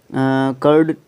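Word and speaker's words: choir: Milk, यहाँ पे जो कर्ड है इससे पहले हम किसी भी आर्टिकल का यूज़ नहीं करेंगे, ठीक है। उसके बाद जूरी, बड़ा इम्पोर्टेंट रूल है। जूरी, कोर, इसको कोर प्रोनाउंस करते हैं।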